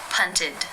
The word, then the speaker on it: punted: The final infinitive sound is the t sound. This means it is case 3, where the ed is pronounced as the I as in sit with the d sound. Punted, punted. How do you pronounce this word?